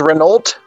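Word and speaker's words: Renolt: to do uh my name's my name is Renault r-e-n-o-l-t red note I were gonna go French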